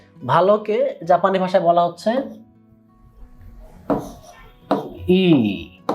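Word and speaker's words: いい: ভালোকে জাপানি ভাষায় বলা হচ্ছে ই। একটু লম্বা করে আর কি, ই। কেউ কেউ বলে ইউই, মানে উচ্চারণটা এইরকম করে উচ্চারণ কেউ করে।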